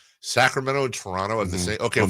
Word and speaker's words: Toronto: Toronto. See? Toronno.